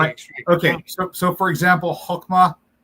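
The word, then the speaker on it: חכמה: So for example, Hokmah, it's I believe it's spelled with het, but often they pronounce it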